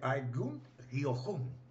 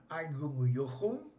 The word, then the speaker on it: Eugen Jochum: Eugen Jochum, Eugen Jochum, creio que a pronúncia é Eugen Jochum, né?